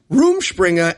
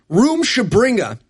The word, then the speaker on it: Rumspringa: Yeah, you learn everything you need to know when he pronounces Rumspringa as Rumshabringa. And the characters all pronounce it differently throughout this movie. His one character says Rumspringa, one character says Rumshabringa.